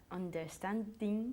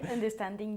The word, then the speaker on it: understanding: Bien, ten cuidado con tu pronunciación de understanding. Understanding. Tú estabas diciendo understanding, ¿ok? Understanding. Understanding. Una vez más es este sonido de A que creamos bajando la mandíbula, ¿ok?